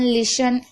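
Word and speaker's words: listen: शब्द के आखिरी में टी ई एन हो तो टी साइलेंट रहेगा। जैसे कि ऑफन, लिसन, यहाँ पर आप देख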